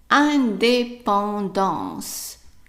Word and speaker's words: indépendance: So the whole word, try to pronounce it. Right. Indépendance.